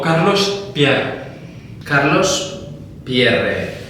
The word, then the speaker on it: Pierre: En francés es Pierre y se pronuncia Pierre, porque es francés. Lo que pasa es que yo creo que mis antepasados, cuando llegaron a España con lo de Pierre, pues se dieron cuenta de que tenían que hacerlo a la española, la pronunciación. Y entonces ya es Pierre, y en mi familia, desde que yo soy consciente, siempre hemos dicho Pierre.